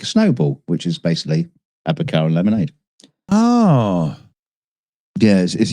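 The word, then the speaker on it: advocaat: Advocar. What? It's pronounced advocar.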